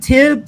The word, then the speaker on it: Tib: Is it Tib?